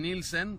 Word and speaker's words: Nielsen: Now, Department of Homeland Security Secretary Kirsten Nielsen, that's the correct pronunciation in Swedish, said they received intelligence